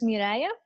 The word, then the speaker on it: Mariah: know yeah good good my name is pronounced s Mariah Mariah yeah yeah exactly thank